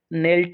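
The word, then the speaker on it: knelt: यहाँ पर ये दिख रहा है, ये नेल्ट वर्ड आया है, तो ये यहाँ पर नेल्ट है, तो इसमें के साइलेंट है।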